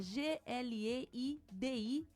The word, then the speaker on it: Gladstone: Gladstone é Gleidistone. É um pouquinho difícil o nome dele, mas é isso aí. Se escreve do jeito que fala, Exato.